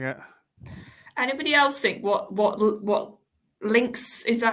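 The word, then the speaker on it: Linx: Anybody else think what Links is that? How you say his name? Links, yes, links.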